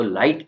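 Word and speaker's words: light: आई जी एच टी तो लाइट के अंदर जी साइ जी एच साइलेंट है इसका मतलब होता है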